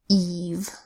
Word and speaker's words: Eve: in this category is Eve this is short for evening like New Year's Eve this is a long e sound e and a V sound and we add the